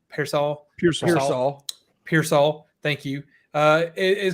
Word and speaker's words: Pearsall: uh and I do not know how to pronounce any of these names so this is going to get bad but like Ricky Purcell Pearsall Pearsall Pearsall thank you uh it is kind of a